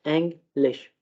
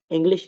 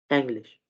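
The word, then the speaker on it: Englisch: पढ़ते हैं, ठीक है, एंग्लिश, इंग्लिश नहीं, एंग्लिश, ठीक है।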